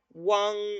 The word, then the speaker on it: wang: Entonces esto no se va a pronunciar, se va a pronunciar wang, ¿no? Wang, wang, o wang, wang, según el tono que tenga, ¿no? Y además adquiere, ¿sí? Adquiere este sonido de W, ¿no? O sea, la W entonces en chino se pronuncia como una U, ¿estamos? No como W.